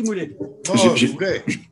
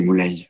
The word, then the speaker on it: Moulay: Non, j'ai ou l'inverse, vas-y Moulet. J'ai pas levé le doigt, j'ai bouffé. Bon, un jour, on prononce bien mon prénom, c'est Moulay, comme soleil. Moulay.